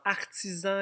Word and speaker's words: artisan: Dans artisan, il y a un S qui fait Z entre deux voyelles.